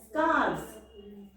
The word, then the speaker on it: scarves: And we have to pronounce it as scarves, not F.